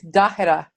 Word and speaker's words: Tahera: Tahera. Tahera. Oh, so Yeah, sorry. it's actually it's Dahera. Tahera. Yeah. And sort of no emphasis, like all syllables kind of get equal emphasis.